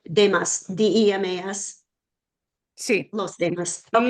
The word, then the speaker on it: demás: Oh, like demás, D-E-M-A-S. Sí. Los demás. Okay. Los demás. Los demás means everybody else.